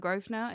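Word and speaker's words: Grosvenor: But why is there an S in Grovena if you don't even pronounce it?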